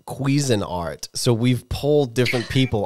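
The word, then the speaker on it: Cuisinart: I say it too and it's it's actually pronounced quein art so we've pulled different people on phone of friends and so far just me you and Mike said Cuisine Art and we're saying that it's like a dioro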